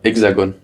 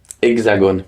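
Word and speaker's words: hexagone: known as the hexagon how do you say that in French exagon like exagon exagon yeah because of its shape exagon yeah um the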